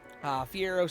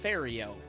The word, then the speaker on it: Ferio: Fiero, since you weren't here, we were doing a watch-along. I just realized that says Ferio. My apologies. I've been saying your name wrong.